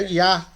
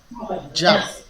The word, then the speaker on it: Yah: Em hebraico é um iod, junto da vogal fica Yah. Yah. Então qual que é a palavra? Aleluia. Louvado seja Já. É interessante, né, que os Rastafari eles pronunciam o nome de Deus como Já, né? Igualzinho a leitura que a Sara fez aí. Para os Rastafari o nome de Deus é Já.